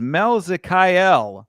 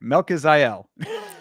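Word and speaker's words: Melquizael: Christian Rodriguez versus Mel Zakyel Costa. I said it right. I'm proud of myself. I'm just going to tell you. No, I didn't say it right. Melaziel. There you go.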